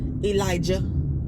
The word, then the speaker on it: Elijah: character clause his brother Elijah they make sure they pronounce the heart Jay Elijah and Rebecca I really